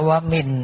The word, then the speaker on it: นวมินทร: เป็น วัน นวมิน มหาราช อ่าน ว่า นวมิน เลย นะ ตรง ๆ เลย เนื่อง เพราะ ว่า หลัก